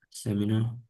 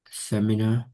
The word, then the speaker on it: seminar: Se Listen, I don't say seminar. I say seminar. Seminar. So the first one, okay?